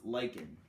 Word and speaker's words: lichen: is a major producer of their it's called lichen it looks like lynching but it is pronounced lichen animals of the tundra you've got different types